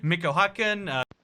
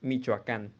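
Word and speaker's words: Michoacán: Don't go to Michoacan. Okay, so I can't. That's sadly gonna have to be a -1 out of 10. It's actually pronounced Michoacan.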